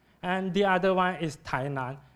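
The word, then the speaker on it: Tainan: the other one is thaan and is the Chinese pronunciation of this Chinese word and this Chinese word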